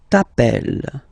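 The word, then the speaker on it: t'appelles: Remember final s not pronounced tapel.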